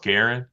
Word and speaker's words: Garen: uh and I'm sorry your last name is pronounced Garen yes okay laa like Laura Garen like Karen got it um you